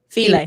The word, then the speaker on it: Philae: the temple to Isis in Philae or Philae? I've been saying it wrong. Philae, there we go.